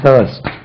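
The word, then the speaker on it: thirst: ஐ ஆர் எஸ் தர்ஸ்ட் தர்ஸ்ட் தர்ஸ்டே இல்ல தர்ஸ்ட் தர்ஸ்டி தர்ஸ்ட் even after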